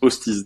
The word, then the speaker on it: Hoosteez: il nous appelait toujours sachant que ça se prononce hostise. Donc c'est vraiment contraduitif. Hosties.